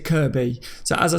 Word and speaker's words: Kirkby: always telling me that when I say Kirkby in Liverpool they pronounced it Kirby so as I say